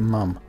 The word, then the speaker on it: MUIM: Messi's ultimate input manager mim-mim mum let's call it mum I think mum sounds nicer so let's pronounced mum spell and we but